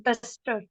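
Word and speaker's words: դուստր: So the first word is daughter. So it is pronounced as duster.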